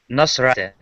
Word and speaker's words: Nasrat: Rat is I think it's Nosrat. Oh, I The missed a last. syllable. I missed a syllable. So the second syllable gets stressed, correct?